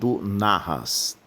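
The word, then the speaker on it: נחש: neste detalhe mas a palavra Serpente no hebraico é pronunci naras e o termo narras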